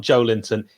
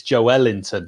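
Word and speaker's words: Joelinton: they say it's not joe linton it's joe ellington you pronounce the the emphasis is in the middle of the word i don't care about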